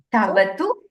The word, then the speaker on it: क्तवतु: You basically, the ik is silent. Tavatu pratyayah.